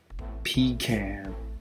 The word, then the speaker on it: pecan: here we go pecan pecan some people do not say pecan no way i pronounce it pecan i like pecans and